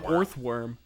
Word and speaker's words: Orthworm: Break down that first syllable. Orthworm. Earthworm? So it's just a... That's the joke, but ore. It's a steel type because it's ore.